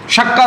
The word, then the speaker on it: शक्कर: अरे भाई चक्कर नहीं होता है, वो होता है शक्कर होता है।